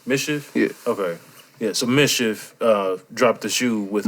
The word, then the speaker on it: MSCHF: it called mischief mischief yeah okay yeah so mischief uh dropped the shoe with but it's weird